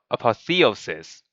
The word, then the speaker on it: apotheosis: a positive because I I did not say the word Theo on that second uh second part of the word see yeah anyways this should be apotheosis like I don't know